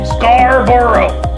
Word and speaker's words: Scarborough: 400 so the you the G and the H are silent wasted letters yes they wasted letters that you're not even gonna pronounce okay Scarborough like Scarborough Fair but without the fair that's right here at